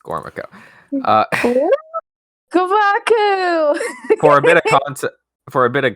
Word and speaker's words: Gormaco: For the bit, I will say Gomaku, but it's actually just Gormaco.